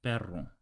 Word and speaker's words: perro: R per per so without exaggerating the Double R it's like this perro horri yeah it's actually